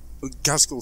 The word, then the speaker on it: Ghazghkull: I mean, Ghazghkull Thraka. That's how you pronounce it.